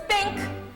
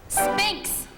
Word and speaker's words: Sphinx: You're as tight-lipped as an oyster, and as silent as an old Sahara spink. Sphinx. Huh? Sphinx. Spink. You spell it with an X.